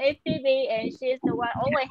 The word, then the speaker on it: Phoebe: So, Kobe. Kobe. Kobe. It's Phoebe. It's Phoebe. Bobby. Yeah. Not Bobby. Yeah. Okay. No, lots of people pronounce my name wrong. Maybe Febe or Febe.